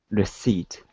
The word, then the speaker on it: receipt: poemento uh let's see it is p silent receipt and show poem and